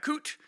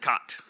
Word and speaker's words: CWT: I pronounce that coot. You will hear other people pronounce it cot.